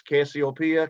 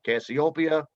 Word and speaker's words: Cassiopeia: some of these names i've heard them pronounce cassiopeia cassiopeia and others let me tell you